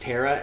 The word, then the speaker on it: Tara: there but realize that it's pronounced tara and that doesn't rhyme with you know laura no or inara either